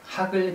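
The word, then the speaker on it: HAGL: 자, 다음은요, 하글 등변에 대해서 알아보겠습니다. 하글, H-A-G-L 그러죠. 하글, 하글이라고 읽어요.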